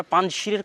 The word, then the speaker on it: পাঞ্জশির: আমরা পাঞ্জশীরের কথাটাও বলতে চেয়েছিলাম যে পাঞ্জশীর বা আমাদের বাংলায় লেখে পাঞ্শির। কিন্তু সঠিক উচ্চারণ হচ্ছে পাঞ্জ।